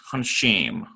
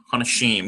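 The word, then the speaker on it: הנשים: We've got a hey with a patach, closes the syllable with a noon. And it's very slight. I'm giving a sort of a dramatized pronunciation, but it's Hanashim. Hanashim. You barely even, it's so fast and slight.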